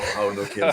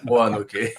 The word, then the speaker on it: Roanoke: And then once I was all set and the series was set, I realized that the actual name was not Raonoke but Roanoke.